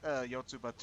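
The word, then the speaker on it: Yotsuba&!: That's what the and sign's supposed to pronounce. Yotsubato.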